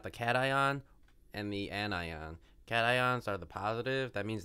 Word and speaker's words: cation: that doesn't work because I like to pronounce them in my head as Cashin and an Yin it sounds cooler and sillier it also sounds a lot stupider and it's wrong call them cations or anions not Cashion's are anyons ionic